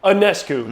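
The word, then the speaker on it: Ionescu: about Sabrina I failed anesu anesu that's how you pronounce it yep but what about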